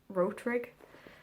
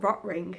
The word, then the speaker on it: Rotring: Also, for ages, I thought it was pronounced Rotrig, but it turns out it's just called Rotring, and I was like, nice.